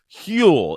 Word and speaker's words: Huel: want to talk to you about today's sponsor hule it is spelled hu L the global complete nutritional brand